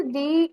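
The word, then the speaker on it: the: हाँ, देख लेना, जब हम प्रोनाउंस करते हैं, जब इसके पहले वॉवेल का वो प्रोनाउंस देता है ना, वॉवेल का वो उच्चारण देगा, तो इसके पहले दी बोलेंगे। अगर कॉन्सोनेंट का अगर उच्चारण अगला शब्द देता है ना, तो यहाँ ना द बोलेंगे, ठीक है।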